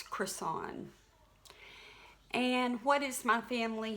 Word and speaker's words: Creson: last name it's pronounced Chris on kind of like a Burger King croissant but it's Chris on and what is my